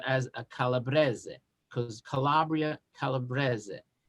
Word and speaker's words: Calabrese: is calabrese is the way you say calabre calabrese calabro calabresa is the italian pronunciation the word derives from the fact that